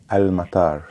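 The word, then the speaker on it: المطار: The pronunciation in Arabic would be al-matar.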